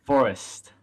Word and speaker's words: Forust: andrew from forest right is that how you pronounce the company name yes forest forest okay and uh today we are uh